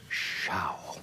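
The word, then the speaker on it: Zschau: And and Sha, is I pronouncing it correct? Ed, as they said in the commercials, Sha.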